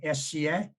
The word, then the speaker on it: Esie: work with the stone images of sca is the way that name is is pronounced um this is a